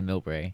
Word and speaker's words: Millbrae: It went down to another station called Millbrae or Millbrae, however you pronounce it. What's the proper Bay Area pronunciation? Well, in the Bay Area, people say Millbrae.